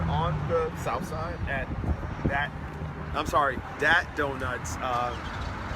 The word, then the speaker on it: Dat Donut: We're here in Chicago, and we're on the south side at Dat Donuts, pronounced with a D, and Uncle John Barbecue.